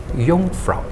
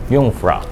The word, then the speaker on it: Jungfrau: So instead of, I can see that a lot of people they used to call it Jungfrau, but the actual fact, the Swiss people, they're very common. They used to pronounce as Jungfrau. Jungfrau.